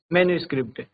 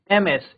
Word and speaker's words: MS: द एब्रविएशन form is usually pronounced as मैनुस्क्रिप्ट। नॉट MS। इसको हम MS नहीं बोलेंगे।